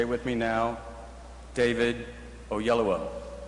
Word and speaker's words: David Oyelowo: And that question is, how the hell do you pronounce his name? So if you will say it with me now, David Oyelowo.